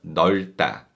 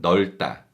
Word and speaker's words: 넓다: also say 이 방 넓다. 이 방 넓다. And this descriptive verb 넓다 uses the 겹받침 리을 비읍, but the second 겹받침 비읍 is silent and we read the first 겹받침 리을.